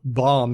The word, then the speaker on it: bomb: it reminded me of how bomb has a B at the end, but it's silent. But then when you combine that with another syllable or two, like bombastic, suddenly the B comes back.